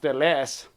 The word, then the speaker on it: Ellesse: Pronounced Ellesse, L-S. He actually used the letters L and S, but then later he changed and wrote it the way.